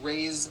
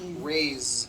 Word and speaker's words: raise: voice meaning like to raise my hand and this word is a bit unusual because even though it is spelled with an s it's pronounced with a voiced z rays so we say i